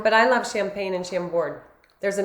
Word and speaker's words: Chambord: Chambord, yeah.